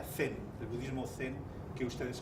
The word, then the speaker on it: Zen: ese budismo chan llega a japón japón se pronuncia zen del budismo zen que ustedes conocen que pasa